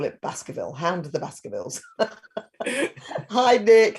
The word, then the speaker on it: Baskerville: Hound of the Baskervilles. Hi, Nick. How are you? How do you say your last name? It's just like the Hounds of the Baskervilles. Baskervilles.